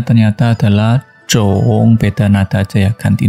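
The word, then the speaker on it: 种: Kalau kita kasih cong di kanan, kemudian kirinya adalah He Mu Pang, bacanya ternyata adalah Zhong.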